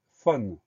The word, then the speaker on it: faune: Première syllabe fa, on va l'écrire FAU, donc le son A s'écrit AU. Deuxième syllabe ne, on va l'écrire tout simplement NE, donc on fait simplement attention à ce son A qui s'écrit AU, faune, FAUNE. Le mot faune est un nom commun.